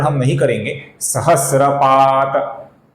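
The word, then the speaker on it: सहस्रपात्: जो सहस्त्रपात है दोस्तों इसका जो अपूर्ण त है इसका पद के अंत में आने के कारण हम लगभग पूर्ण उच्चारण करते हैं। अर्थात सहस्रात ऐसा पूर्ण उच्चारण हम नहीं करेंगे। सहस्रपात त ऐसा उच्चारण हम करते हैं।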